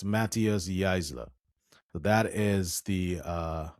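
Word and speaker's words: Matthias Jaissle: decided to quit Newcastle and the PIF landed Matthias Heisel. Or Heisel. How do you pronounce this? Let me just get this name pronunciation right. Oh, it's Matthias Geisler. It's Matthias Geisler.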